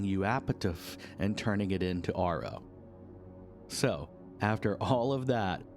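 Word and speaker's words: AARO: Domain Anomaly Resolution Office pronounced ARO which is at least easier to say.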